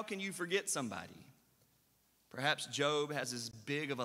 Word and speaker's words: Job: so much attention and his name is spelled j-o-b so until i said job everybody thought it was job right that's the way